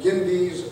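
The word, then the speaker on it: Gyndes: Cyrus, on his way to Babylon, came to the banks of the, sometimes it's called Gindes, or I think it's Gundes is what how it's pronounced.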